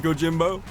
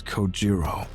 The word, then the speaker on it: Kojiro: The way he deliberately mispronounces my name really bothers me. It bothers me so much that the anger boiling inside me gives me the strength to open my mouth once more. It's Kojiro.